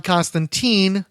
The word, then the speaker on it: Constantine: And I hasten to add, it's not John Constantine, the Alan Moore character. It's John Constantine, spelled with a capital T-E-E-N, even when he doesn't